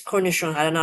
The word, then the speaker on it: cornichon: Okay, French word it's cornichon. I don't know how to pronounce that.